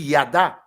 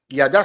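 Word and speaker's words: yadah: La Bible dit que ce verbe louer ici, en hébreu, il traduit par ce mot qu'on dit yada. Yada s'écrit Y-A-D-A-H. Yada.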